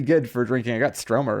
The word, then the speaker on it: Stroma: i remember that gretty stroma spell that g-r-e-d-d-i-e stroma s-t-r-o-m-a like troma with an s that's a strange name